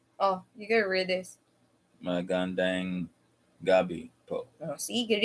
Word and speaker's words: magandang: Magadang. You just read it slowly. Magandang.